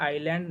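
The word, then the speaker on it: island: से, उसे हम लोग कहते हैं आइलैंड नेशन, ठीक। यहाँ पर यह साइलेंट होता है और इसकी जो पॉपुलेशन है वो लगभग कितनी है?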